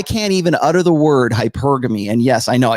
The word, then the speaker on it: hypergamy: Remember that I have to explain this to you because this is really the start of today's topic, which is open hypergamy.